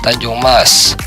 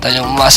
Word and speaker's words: Tanjung Emas: pelabuhan laut bernama Pelabuhan Tanjung Mas Pelabuhan Tanjung Emas satu Terkadang ada yang membacanya dengan Pelabuhan Tanjung Mas dikelola oleh PT pelabuhan